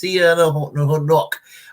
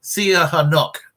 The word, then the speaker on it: Sihanouk: anyway when they embraced Prince, how do we pronounce his name? Prince Sihanouk. Hold on. Sihanouk.